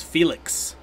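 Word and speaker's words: Phoelix: I was really excited because I thought this song had Phoenix in it, but it's Felix. It's spelled like Phoenix, except they put an L in where the N is. So it's like Felix, but it's spelled like Phoenix, kind of.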